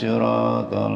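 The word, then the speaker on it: صراط: Ihdinas siratal mustaqim. Itu sin apa shad apa sin besar apa enggak tahu dah ya. Itu ihdinas sin apa shad. Shad ya, biar bacanya biar beda dikit.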